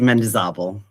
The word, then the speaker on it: Mendizábal: So will you please tell the people how to properly pronounce your name? Yes, Mendizábal.